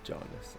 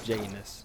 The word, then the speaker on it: Janus: It's Janus, not Janus. I do wish I heard the word before I pronounced it wrong a million times.